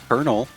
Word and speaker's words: colonel: pronunciations throughout history, but the pronunciation stuck with the R while the spelling stuck with the L because English is the madeup language that does uh doesn't make sense.